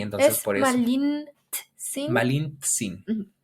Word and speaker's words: Malintzin: a donde fuera, pero los españoles no sabían pronunciar Malint. la TZ, ese Malintzi. término y lo trasladaron a Che y entonces Es por eso Malintsin. Malintzin.